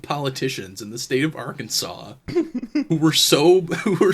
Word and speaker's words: Arkansas: pronounce Arkansas fanatically um pronunciation with the accident of the second syllables with the sound of an A in man and the sound of a terminal S is an invocation Innovation to be discouraged it's wild they saw